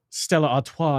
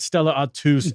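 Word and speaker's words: Stella Artois: right from madmat 41 Stellar Arta from Belgium is pronounced Stella Arta not Stella atus LOL you EG you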